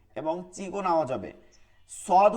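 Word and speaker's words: صاد: সদ হচ্ছে সিরসির আওয়াজ হবে কিন্তু মোটা আওয়াজ হবে। সিন হচ্ছে সিরসির আওয়াজ চিকন, সদ হচ্ছে সিরসির আওয়াজ হবে কিন্তু কি হবে, মোটা হবে।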